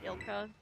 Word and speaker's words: ILCA: well I think it the name is supposed to be ILCA but that's such a mouthful that so many people just started calling it ilka yeah they should call